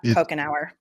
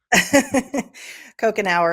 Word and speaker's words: Couchenour: Welcome to the show, Scott Pokenour.